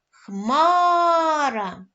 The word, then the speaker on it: хмара: 2 давайте гукати слово хмара наголос падає на склад хмар це буде наголошений склад молодці наступний у нас